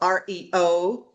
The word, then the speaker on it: Aryo: Justin Abrams, he is the CEO of REO, but it's spelled like ARYO.